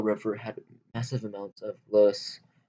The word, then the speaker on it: loess: Both banks of the Yellow River had massive amounts of loess, pronounced like the English word less, a fertile sediment that allowed Shang-era farmers to grow a large surplus of food.